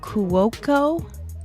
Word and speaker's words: Cuoco: Today I have Steve Cuoco.